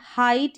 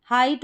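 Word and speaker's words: height: यहाँ पर है हाइट यानी आई, हाइट और नाइदर, इन दोनों स्पेलिंग में ई आई का उच्चारण क्या आ रहा है, आई करके आ रहा है, क्या आ रहा है, आई।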